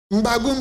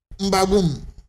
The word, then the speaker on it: M'Bagu'Um: Mbagoum s'écrit comme suit. M apostrophe B A G U apostrophe U encore M. Ça se lit Mbagoum.